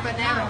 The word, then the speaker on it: habanero: Habanero? How do you say it? Am I saying it wrong? Yeah. Habanero.